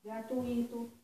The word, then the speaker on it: gratuito: A lei não, as regras da prosódia, eu vou falar gratuito, fortuito, fluido, tá? Tem gente que troca, que bota a sílaba tônica no I, mas isso é uma inadequação da prosódia, das regras da prosódia, tá?